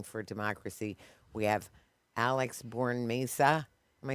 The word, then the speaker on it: Bornemisza: We have Alex Bornemisza. Am I saying it right? Bornemisza.